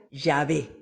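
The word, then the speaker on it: Yahvé: soy el que soy que se escribe así como lo ven y que se pronuncia llave luego añadió tú hablaras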